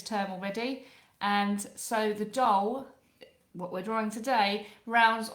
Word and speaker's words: Dhole: I say drawing the doll so it's spelled d h o l e but pronounced doll which is a type